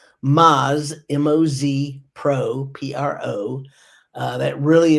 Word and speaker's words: Moz: And I've been told that my South is in my mouth a lot, so let me spell it. BRIGHTED. That's GEEDGE. Bright Edge. Moz, MOZ Pro, PRO.